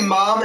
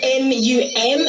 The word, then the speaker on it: mum: How do you say mom and dad? We spell it M-U-M, and we say mum. I know, in America, they spell it M-O-M, and they say mom, or whatever.